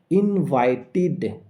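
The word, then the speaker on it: invited: পরে যদি ইডি থাকে তাহলে সেই ইডি এর উচ্চারণ ইড এর মত হয়। For example ইনভাইটেড।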